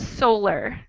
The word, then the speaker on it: solar: Yes, the O sounds different. Solar. O sounds like W. W. Solar. Yeah, And more like a round O mouth shape.